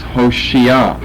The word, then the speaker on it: Hoshea: Its Old Testament pronunciation is Hoshea. However, here in the KJV, in verse 8 and in verse 16, we have Oshia. The H has been dropped.